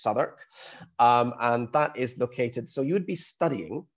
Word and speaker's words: Southwark: So our main campus is at Southwark, or Southwark, it looks like, pronounced Southwark.